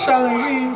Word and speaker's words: Chalet: Chalet, that's how you say it.